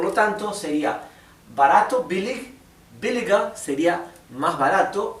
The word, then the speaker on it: billiger: Y la R es casi imperceptible. Así que esto, en vez de pronunciarse billiger, sería billiger. ¿Bien?